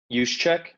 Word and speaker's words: Juszczyk: Juszczyk.